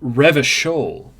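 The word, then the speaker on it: Revachol: right and we go it's pronounced revishol okay revision okay I have been saying it like a wrong dumb idiot okay so we got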